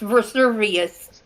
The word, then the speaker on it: Vesuvius: It's pronounced Vesuvius.